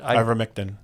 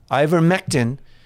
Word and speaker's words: Ivermectin: called upon to get some, how do you pronounce it? Ivermectin. Ivermectin.